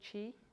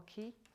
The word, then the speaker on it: qi: Has everyone heard of qi or qi? So qi is the Chinese word for energy, and qi is the Korean or Japanese pronunciation, and this is a Korean practice.